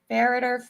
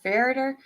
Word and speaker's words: Ferriter: letters of their name the pronunciation is the same farer farer I mean pretty much and